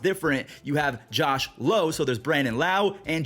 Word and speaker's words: Josh Lowe: guy with the same last name but it's pronounced different you have Josh Lowe so there's Brandon lau and Josh Lowe low he's going off he's hitting 385 with six